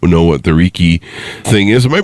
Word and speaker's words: Reiki: the audience that might not know what the Riki thing is am I pronouncing that right too it's pronounced raiki like a see that's why you're the professional I'm not at this so with raiki give us a ground floor definition of what